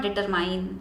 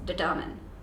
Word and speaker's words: determine: the value of a it's not determine it's determine it's determine the value